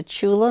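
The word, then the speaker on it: Tchula: Mississippi brought her to Chula Mississippi spelled with a t c laa and then he would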